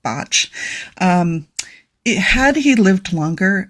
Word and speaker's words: Bach: Botch did. And it looks like Bach, but he was Welsh and it's pronounced Botch.